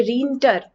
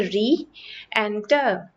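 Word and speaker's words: re-enter: की अब यहां पर अगर आप बीच में हाइन नहीं लगाते हो तो आप इसको प्रोनाउंस करोगे रिटर लेकिन यह रिटर नहीं है यह है री एंटर फिर से एंटर करना रीएंटर इसकी साउंड आती है और इसकी ए रीएंटर ना कि रिटर तो इस वजह से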